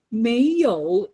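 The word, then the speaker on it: 没有: So you say 没有, so very nice, okay? When you say no, you don't say it that way. You got to say 没有没有 second tone.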